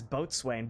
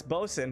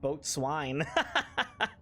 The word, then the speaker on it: boatswain: I always read that as boat swain.